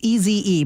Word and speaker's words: Eze: It's EZE, but it's pronounced Eze.